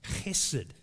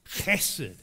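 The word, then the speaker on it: hesed: whole old testament scriptures it's called hessid but it's a sound at the beginning it's hesid you've got a hoyt you want to try that try saying it acid no no you need more hoyt you never thought you'd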